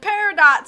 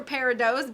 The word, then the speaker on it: peridot: garnets and pyruvates and peridots or peridots both are uh considered appropriately correct pronunciations or we got rubies and